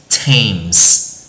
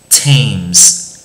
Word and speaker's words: Thames: cái chữ, đúng không, là chữ t đi với chữ h cũng sẽ được đọc là chữ t trong một vài từ